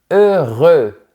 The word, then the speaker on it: heureux: C'est le mot heureux. Projette bien les lèvres vers l'avant.